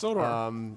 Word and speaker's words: Zodor: Yes, Zodor. Let's assume I filled the right name. And says, Rhymes with I Hodor.